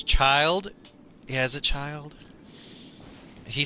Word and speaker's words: Childe: Chide is pronounced as child.